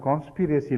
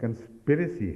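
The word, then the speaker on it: conspiracy: ہے، میں جانتی ہوں، مگر آپ نے کانسپیریسی لفظ بولا تھا ایک جگہ، تو یہ درست نہیں ہے، یہ لفظ کنسپیریسی ہے، تو یہ درست ہے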